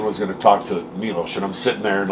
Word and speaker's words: Milos: Milos.